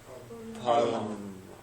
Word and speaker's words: Parlement: Generally in French, how do you pronounce it? Just don't say the last letter. Parlement.